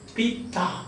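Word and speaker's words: पिता: So the stress is on the second syllable, pita, there are two syllables.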